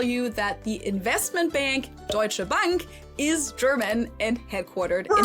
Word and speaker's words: Deutsche Bank: surprise to me, but Americans usually call it Deutsch Bank or Deutsche Bank or something like that. In German, it would be Deutsche Bank and it literally just translates to German bank.